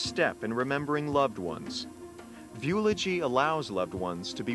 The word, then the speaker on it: Viewlogy: eternal life machine called VY rhymes with eulogy in a sense this